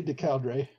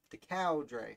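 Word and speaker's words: Du Coudray: How do you say it? I say De Coudre. De Coudre. De Coudre, like a cow.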